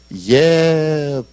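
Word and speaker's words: יְבָרֵךְ: 22절에 나와 있는 복을 주셨다를 히브리어로는 예바레크 이렇게 발음을 해요.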